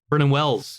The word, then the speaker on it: Vernon Wells: Vernon Wells, yes. Like Wellington.